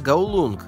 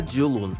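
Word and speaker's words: 九龍: Коулун на кантонском звучит как Гаулунг, а на путунхуа Дзюлун и так далее, имейте это в виду.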